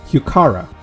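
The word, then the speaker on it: Heuchera: all right flight of the day we have hukara i think that pronouns are right hukara there you go even though it says e i think it's pronounced as kara tara like cara carro like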